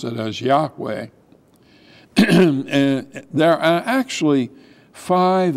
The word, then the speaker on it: Yahweh: name of God which is we're going to pronounce it as Yahweh and there are actually five excuses that Moses